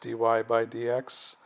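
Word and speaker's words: dy/dx: in towards the end you probably think that this is pronounced dy by DX but for some reason I have no idea what I was taught this in school it was it's called die why die why die X okay so I'll just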